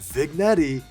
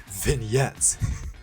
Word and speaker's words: vignette: the setting on team leader vignette it's not pronounced vigetti it's pronounced vignette now what this does is that it basically